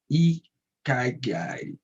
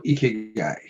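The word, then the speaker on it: 生き甲斐: Today we were talking about Ikigai or Ikigai. There are different way to pronounce it. It's Ikigai, Ikigai. It's depend of which your native language you will pronounce it differently.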